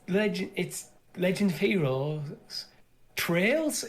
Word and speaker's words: Trails: Trails of Cold Steel, not so much in my opinion. But yes, it's spelled Trails, which is trails, not trials.